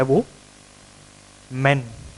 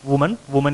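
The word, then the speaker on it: women: इसका पर्पज ये था कि ये वुमन है और ये, इसको हम वुमन नहीं कहेंगे, ये है विमेन।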